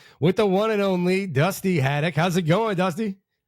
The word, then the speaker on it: Dusty Haddock: I am here with the one and only Dusty Hadock.